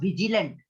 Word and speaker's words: vigilant: The presence of vigilant माने active. It is pronounced as Vigilant. क्या है? VIJ जैसा पढ़ते जे के जैसा.